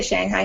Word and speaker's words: Shanghai: actually which is great Shanghai I mean that's like the correct Chinese pronunciation but yeah definitely trip people in the west up they're a little different to say but you know people say Shanghai here too so you